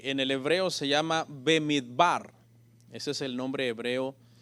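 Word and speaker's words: במדבר: Y este libro en el original comienza con esta palabra, Bemidbar, que se pronuncia como una sola palabra porque se ponen ambas juntas, pero en realidad quiere decir en el desierto.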